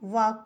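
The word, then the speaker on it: walk: हम पाम पढ़ते हैं पी ए एल एम को हम पाम पढ़ते हैं पाम डब्लू ए एल के को हम वाक पढ़ते हैं यहां एल साइलेंट है पाम में भी एल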